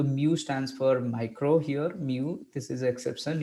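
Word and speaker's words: μ: तो माइक्रो के लिए हम ऐसे म्यू लिखते हैं, ये सिंबल को म्यू प्रोनाउंस करते हैं, और हम इसको लिखने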